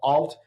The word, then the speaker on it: ALT: It's ALT or is it alt? How do you say it? First of all, alt, just short for alternative okay.